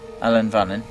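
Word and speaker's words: Ellan Vannin: we are you've sung a part of uh Ellen vanon is that how you say it yeah I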